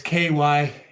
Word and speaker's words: Cymru: the Welsh language is Cymru. Cymru, I think I get it right. Cymru. It's Kymrie. It looks in English it looks that way.